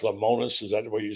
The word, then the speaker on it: Lemonis: Zach Selman announced today that Chris, is it pronounced Lemonis?